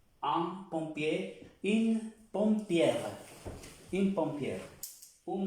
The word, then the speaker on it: pompier: Para el femenino, voy a trazar una raya, con sal, in pompière, une pompière, un pompier, on ne prononce pas la R, un pompier, une pompière, une pompière.